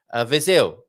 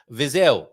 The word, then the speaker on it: Viseu: Viseu. Okay. Viseu. Okay, thank you very much for that pronunciation note there.